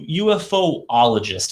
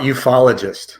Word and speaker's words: ufologist: you are a you ufoologist is that correct how about ufologist ufologist ah a lot easier to pronounce that way it is so tell